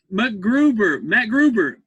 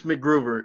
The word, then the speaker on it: MacGruber: Matt Gruber. Is that how you pronounce it? Is it Matt Gruber or MacGruber? It's MacGruber. It's MacGruber. It's like MacGyver. Yeah.